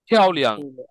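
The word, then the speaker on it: 漂亮: আরে উচ্চারণটা সুন্দর বিউটিফুল। ফিয়াও, মানে ফিয়াও, বিউটিফুল। বাতাস বেরোবে। ফিয়াওলিয়াং, বিউটিফুল।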